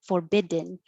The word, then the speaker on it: forbidden: a w prohibition prohibition you can say forbidden with a den at the end it'll sound like in forbidden or because your tongue is already going to the d position forbid hold it there and make the noise forbidden forbidden it's the syllabic in that we've used a